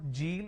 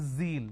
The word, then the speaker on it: zeal: It's not Jeel, it is zeal. It's a z sound.